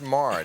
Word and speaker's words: Maher: It's pronounced Maher.